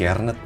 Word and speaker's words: Kjaernett: Bacanya Kejarnet apa Jarnet sih? Kiernet. Kiernet, oke.